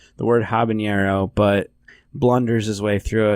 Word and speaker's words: habanero: There's They're clearly idiots not an and R pronounce it roll on that habanero. word. It goes habanero. Habanero. There's not a trill over the R, bro.